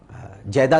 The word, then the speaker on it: جدہ: جدہ کہا جاتا ہے، لوگ اسے جدہ کہتے ہیں، جیدہ بھی کہا جاتا ہے اسے، لیکن صحیح تلفظ ہے جدہ کہتے ہیں دادی کو،